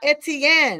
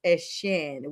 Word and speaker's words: Etienne: He said he is not Etienne and neither is his brother. He is now going back to the Bayou State and he is Etienne, which is how the French and Creole call it.